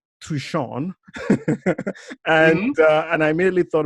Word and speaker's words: Hsiang: life so much easier so from now on guys it's pronounced Shawn surprisingly easy right so